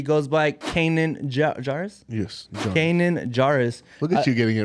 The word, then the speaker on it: Kanan Jarrus: Yes, Kanan Jarrus. Look at you getting it right on the first try. Even pronouncing the name right and everything.